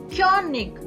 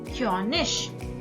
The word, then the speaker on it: König: This combination gives you choice. You can pronounce this combination in two ways. First is ich, second is ich. Zum Beispiel Pfirsich, Pfirsich. Richtig, richtig. König, König. Both are fine, but my suggestion starts with ig at the beginner level.